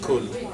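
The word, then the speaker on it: كل: A popular example is the word qul and kul, which qul with a qaf means say, and kul with a kaf means eat.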